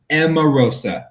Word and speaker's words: Emarosa: it's pretty you know e-m-a-r-o-s-a amarosa that's how you say it nice we're gonna